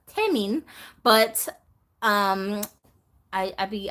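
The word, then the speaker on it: Tenoch: I don't know why I read the name so American I was like Tay men no better actually that name is pronounced tamin but um I I'd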